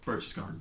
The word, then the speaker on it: Berchtesgaden: Berchtesgaden. Yep. Okay, I was going to pronounce it wrong, which we do a lot.